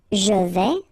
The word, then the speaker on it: je vais: Je vais, final S not pronounced here, and remember when you combine this A and E together, you get the sound E, so really open. Je vais.